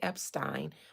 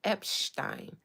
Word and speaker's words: Epstein: You know, that's a Jewish name. So they were very much particular with making sure I didn't say Epstein, but Epstein. So if you guys hear me say Epstein, that is why.